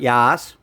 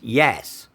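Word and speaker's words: Yass: the story went to no it's not yas you won't find a yas it's yes y-a-s-s right y-i-s-s yeah yeah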